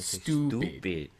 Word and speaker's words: Stoopid: hop stupid ale like how i say stupid well it's got two o's so you kind of have to say it like that stupid it's stupid speaking of stupid there's a